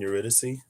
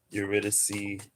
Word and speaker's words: Eurydice: With Orpheus and Eurydice. See, there's another CE where the E is pronounced. Eurydice, Talia, Euterpe, Calliope, Melpomene, Terpsichore.